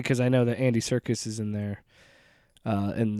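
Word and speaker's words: Serkis: never realized it but if you say his name and you don't see how it's spelled it sounds like like circus like he's in a circus yeah I wonder if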